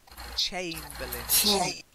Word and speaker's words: chamberlains: Chamberlains. Not chain. Chamberlains. Chamberlains.